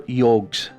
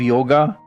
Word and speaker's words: yog: They are the 4 yogs. Yogs? What's that? Have you heard of yoga? Of course. Yoga is a mispronunciation. The Sanskrit word is yog, pronounced yoga.